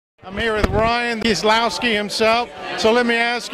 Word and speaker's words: Kieslowski: Yeah, it's pronounced Kieslowski, I guess. Yeah, Kieslowski.